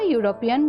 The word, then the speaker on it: European: honest number two a european girl here although the word european starts with a vowel e the word european has a consonant sound so here a is